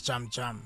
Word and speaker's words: Jam Jam: But pronounced in Xhosa it's Jam Jam.